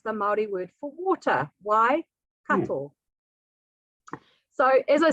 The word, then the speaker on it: Waikato: at the waikato river so again just to pronounce this region why which is the Maori word for water why cattle so as I said before this region is